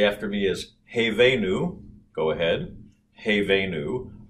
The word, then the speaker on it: Hevenu: a it's just like you were to say hey as in hey hey there or hey is for horses and i've put it in a yellow square because hey they knew the first two syllables of the first word are it's i i it's the same vowel hey they knew go ahead and say that hey they knew uh-huh it's an actual diphthong so you have two